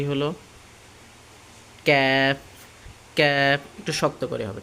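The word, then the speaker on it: ك: বাড়াইয়া তার বরাবর উপরে তালুর সঙ্গে লাগাইয়া তাহলে উচ্চারণটা কি হলো ক্যাফ ক্যাফ একটু শক্ত করে হবে ঠিক আছে ক্যাফ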